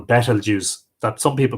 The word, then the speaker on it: Betelgeuse: by the red giant star Betelgeuse at the unpronounceable battle juice that some people call Betelgeuse and better news